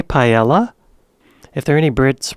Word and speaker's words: paella: originally silent in French the way Americans pronounce the L's differently when they say paella is very much in line with how they do it in Spain our own British offering